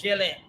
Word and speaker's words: Gelin: We know Gelin. Gelin with a hard G. Gelin with a hard G. Okay, that's in English, and in Creole is Gelin.